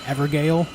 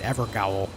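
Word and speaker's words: Evergaol: for a moment there hey thanks Bruno always pronounce the ever Gale when I first saw it I I pronounced it ever goow then I learned that it's not pronounced that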